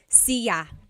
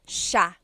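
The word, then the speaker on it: siya: It looks like it should be pronounced sa sa but it's actually pronounced sha sha.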